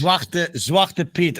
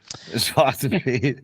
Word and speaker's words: Zwarte Piet: Zwarte Piet. I feel this is really getting out of hand. Yeah. Zwarte Piet.